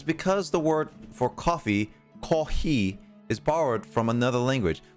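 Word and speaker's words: コーヒー: the word for coffee ko he is borrowed from another language it's pronounced pronounces if you pronounce it it sounds similar to the word coffee right this is normal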